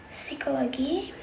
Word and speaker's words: psychology: For example, in the word recite, the P is silent and the word is pronunciation. Reset. For example, psychology.